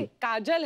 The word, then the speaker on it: Kajol: काजल है ना, काजल होता है काजोल, हाँ मतलब बंगाली में काजोल। बंगाली में ऐसे उसका प्रोनाउंसिएशन ऐसा है।